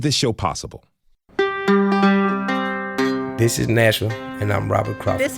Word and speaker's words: Nashville: himat this is nashille it's not supposed to be too syllables this is Nashville can run it together Nashville this is Nashville be